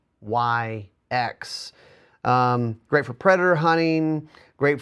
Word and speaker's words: Sionyx: It's spelled weird. It's Sionyx.